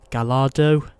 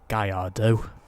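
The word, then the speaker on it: Gallardo: porer 911 Carrera Dodge Viper SRT10 the Lamborghini galardo or as it's actually pronounced gardo also got Porsche 911 Turbo the Chevrolet Corvette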